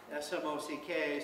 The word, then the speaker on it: Smock: It's Smock, S-M-O-C-K. So I say Smock like something you might wear while painting, and then hopefully people